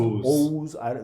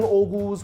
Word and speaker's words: Oghuz: I've heard it pronounced Oghuz. Like you don't pronounce the G, whatever.